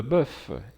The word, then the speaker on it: boeuf: madame mesdames messieurs messieurs le f de boeuf et duff se prononce au singulier mais pas au pluriel des boeufs des oeufs